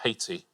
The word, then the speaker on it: Haiti: IT, that's a country I haven't heard of. Right, and now you're retired. We pronounce it Haiti.